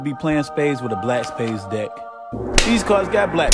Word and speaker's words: BLVCK Spades: Shout out to them because I didn't want to mispronounce their name, but I guess it's pronounced Black Spades, but it's BLVCK Spades.